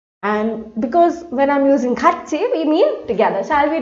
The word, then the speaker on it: 같이: It is used to make a suggestion and is often used with 같이. How do we pronounce this?